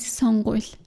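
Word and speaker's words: сонгууль: Mongolian word for election is songul. The verb elect is song in Mongolian, and to become the word election, it adds suffix of ul, which phonetically sounds like the word cry in Mongolian.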